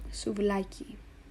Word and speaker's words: souvlaki: So for example, souvlaki. You know that it's pronounced souvlaki and not souvlaki or souvlaki because the tonus is in the middle. Souvlaki, it's on this middle A.